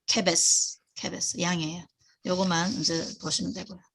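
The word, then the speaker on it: כֶּבֶשׂ: 아까 제가 케베스 아까 앞에서 케베스 요거가 양이잖아. 양의 쉬는 스예요. 왼쪽에 점이 있죠. 케베스 양이에요.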